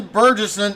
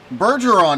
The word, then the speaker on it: Bergeron: in ninth and jonathan burgesson in 10th bergeron excuse me i have been mispronouncing that all night and i knew better mason foster and don